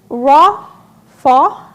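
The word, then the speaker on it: רָפָה: being in the Old Testament is Hebrew and it's raw fa that's how you pronounce which means to sink to relax to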